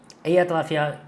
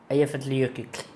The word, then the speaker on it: Eyjafjallajökull: Eyjafjallajökull. Já esqueci. Eyjafjallajökull. Volcano. Eu postei no Instagram. Aqui. Conseguem pronunciar esse vulcão aqui? Olha lá. Eyjafjallajökull. O LL no final é tipo Eyjafjallajökull.